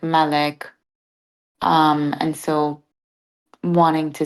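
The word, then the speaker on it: مالك: in you'll see that there's a dagger out so that changes the pronunciation so it would be Malik Malik okay not Malik yeah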